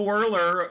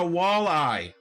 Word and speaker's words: walleye: i haven't caught no whirler and all day you know whirler that's the one that gets me like say it right please it's a walleye wall eye enunciation yeah anyway y'all i